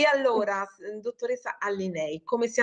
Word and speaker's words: Allinei: Ho pronunciato benissimo il mio cognome, io sono Allinei, segretaria generale dell'Assoutenti.